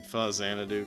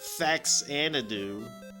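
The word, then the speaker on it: Faxanadu: Pronouncing Fuzz Xanadu correctly, yeah. Not Fax Xanadu.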